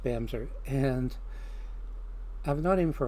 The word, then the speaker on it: Bamse: out somebody this time I'm gonna go with Bam ze her it spelled bmz but it's pronounced BAM sir and I've known him for a long time